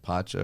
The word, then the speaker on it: Pacha: being with is it Pacha or Pac? I don't remember how to pronounce I the want to say name. it's Pacha. I remember Pacha? being close to Poncho. But Yeah. not quite Pacha, yeah.